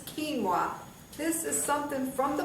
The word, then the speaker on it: quinoa: know what quinoa is it's not doesn't look like it's uh pronounced that way but this is quinoa this is something from